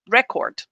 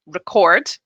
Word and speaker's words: record: the incorrect stress so if i use a strong vowel sound here if i say re instead of r listen to how i pronounce it record if i don't use the schwa it sounds like the noun okay record record right